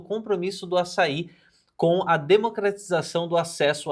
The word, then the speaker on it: Assaí: Assaí, porque tem um acento no final da palavra. É. Então é Assaí.